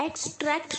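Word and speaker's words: extract: x trap एक्सट्रैक्ट नहीं एक्सट्रैक्ट पे आपको जोर देना है M4 साइज करना है अभी हमने थोड़ी देर पहले पढ़ा था ना एंड साइज मतलब जोर देना किसी चीज पर जोर देना तो वैसे ही इसको ट्रैक पर आपको जोर देना है एक्सट्रैक्ट नहीं बोलना है एक्सट्रैक्ट ओके एक्सट्रैक्टेड एक्सट्रैक्टेड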